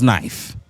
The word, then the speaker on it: knife: But if you got N I F E after it then it's knife and a K is silent.